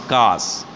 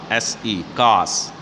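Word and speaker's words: coarse: she has course sorry it should pronounce cars c-o-a-r-s-e cars okay and that means rough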